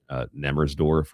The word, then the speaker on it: Nemmersdorf: The Mm, one that you're thinking of is, if I pronounce it correctly, I think it's pronounced Nemmersdorf or Nemmersdorf.